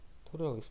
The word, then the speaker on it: torr: 이거는 우리는 토르라고 읽어. 토르라고 읽어.